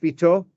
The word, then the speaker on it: Vitor: That's why, is it correctly pronounced, Vitor? Correct. Italian? No, Portuguese. Portuguese.